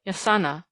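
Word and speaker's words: jacana: spot a still more interesting bird was the yakana as it is spelt in books but pronounced yasana by the Indians of Paraguay a quaint rail-like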